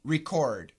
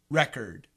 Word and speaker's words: record: c o r d record record record and as a noun record record record the spelling is the same the pronunciation is very different uh reimburse h yeah